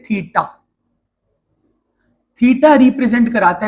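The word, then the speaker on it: theta: ये जो बेटा मैंने डिजाइन बनाया ना, ये इसको बोलते हैं, प्रोनाउंस करते हैं थीटा।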